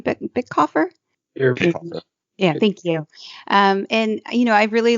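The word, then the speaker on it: Bitecofer: Bickhofer?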